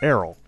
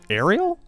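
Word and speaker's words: Aryll: and his little sister errol or ariel i've heard it pronounced both ways uh you know what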